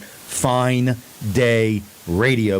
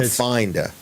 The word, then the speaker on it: Fine Day Radio: So just say, Alexa, enable Fine Day Radio, and you might have to enunciate Fine Day Radio. Not Finda.